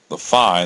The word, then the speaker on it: phi: Now, like I said, the phi, that's how that's pronounced, it's a Greek letter phi, or the